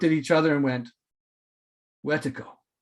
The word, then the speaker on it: wetiko: each other and went wetiko some people will pronounce it watico or wetaco and and they knew